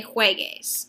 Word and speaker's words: juegues: So in order to get that G sound, we're going to add a U. Juegues, juegue, jueguen. The U is just there to help us preserve the sound.